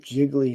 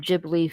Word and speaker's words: Ghibli: do you think of jiggly Studios jiggly Studios you know you're from the Midwest when you can't pronounce Ghibli right I am from the